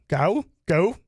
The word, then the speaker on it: Gough: So what David's talking about is Gary Go. How do you say his last name? Go? Gough.